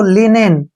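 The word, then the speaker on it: linen: एन ठीक है ना एल का उच्चारण ल करेंगे आई का उच्चारण ई हो जाएगा एन का उच्चारण न करेंगे और ई का उच्चारण ए करेंगे और एन से न ऐसे पढ़ेंगे इसको लिनन क्या पढ़ेंगे लिनन लिनन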